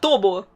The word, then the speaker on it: Tubbo: Actually- Pronounced more like “Тоббо ”, i think. There is something between A and O.